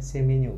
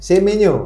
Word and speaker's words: Semenyo: Ini bacanya gimana? Semenyo. Semenyo. Nah. Semenyo.